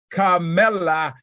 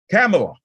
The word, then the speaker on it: Kamala: president or vice president slip of the tongue Carmela Harris did I say her name right who made up yeah she she actually uh vice president come you know you know I I butcher up her name Kamala Carmela Harris who made an unannounced appearance at